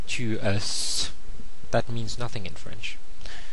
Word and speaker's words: es: So a friend, somebody you know, and it's tu es. Okay, and it's spelled E-S-A. So the S is silent, and I want to point out here that the E sound here is different from the je. Remember je? That's the E is pronounced in French.